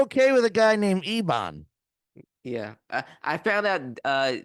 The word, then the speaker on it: Ebon: with a guy named Ebon yeah I found out uh Dan pronounced eban okay yeah said it's it's it's eban eban bakarat well to be